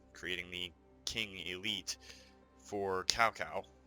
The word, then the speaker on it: Cao Cao: the King Elite for Cao Cao, or Cao Cao, depending on how you pronounce it. I prefer Cao Cao.